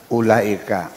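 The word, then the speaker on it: أولئك: ini bacanya apa ini ulaika wawunya ada gunanya enggak u Laika gitu ulah yang dibaca ada wawya dibacanya pendek yang tidak ada alifnya dibaca panjang sebenarnya gimana kan begitu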